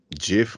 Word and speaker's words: GIF: I did, yeah, and apparently it's GIF according to most people, which GIF. It's GIF. It's GIF. Yeah. It's GIF. No, it's GIF. For sure, GIF. Yeah, for me, I'm hard G for life.